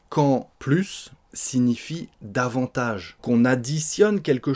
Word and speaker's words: plus: gentil qu'avant par exemple on ne prononce pas le S pourtant c'est une phrase affirmative ce n'est pas une négation hein c'est une phrase affirmative il est plus gentil qu'avant pourquoi parce que c'est suivi d'un mot commençant par une